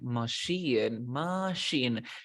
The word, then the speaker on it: machine: Recuerda que esto se pronuncia machine.